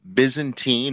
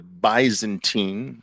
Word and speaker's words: Byzantine: familiar with this but the Byzantine or the bantine uh both I think both pronunciations are correct that problem the bantine